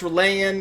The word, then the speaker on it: R'lyeh: Listen, it's Relayan. It's hard for our human tongues to pronounce.